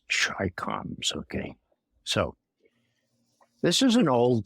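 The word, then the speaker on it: ChiComs: an innate fear of those Russians and those Chai coms, for those of younger age, Chai coms are Chinese communists, but they're always pronounced Chai coms.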